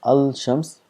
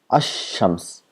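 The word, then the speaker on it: الشمس: al to shams, so we don't pronounce as al shams, we make this lam silent and we give shadda to the word next to it, then becomes ashams, as though the lam does not exist.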